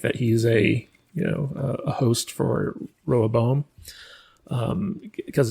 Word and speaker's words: Rehoboam: I say Rehoboam. That's how it's pronounced in the Bible. It tells you exactly how to say it. It's Rehoboam, but they say it differently in the show, and I can't.